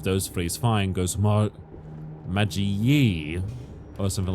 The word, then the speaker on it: Magi: Like, knew fully well how it's supposed to be, Magi. You know, if people go Maggie or whatever, or Magi, it's whatever, you know, it's fine.